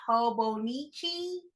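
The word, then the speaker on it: Hobonichi: and I was like that's not even how you say it it's hobo Nichi I don't know what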